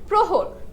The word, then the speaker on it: প্রহর: এখন দেখো আদ্যে অধনিতে র ফালা যুক্ত হলে অ ধ্বনি সংবৃত উচ্চারণ হয়।